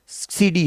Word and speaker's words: cedi: और इसकी होती किडी, क्या होती है इसकी करेंसी, घाना। सीडी, सीडी भी कह सकते हैं, किडी भी कह सकते हैं, प्रोनाउंसिएशन पे डिपेंड है।